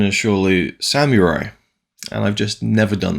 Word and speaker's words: Samurai: that in just a second I have always pronounced Samurai as Samurai as in like Sama Rai as if it was spelled s-a-m-a-r-a-i but the correct pronunciation is surely Samurai and I've just never done that so let's